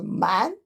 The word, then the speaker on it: 蠻: So using this character, pronounced as man, to symbolize in people, minority living in the south, right over here.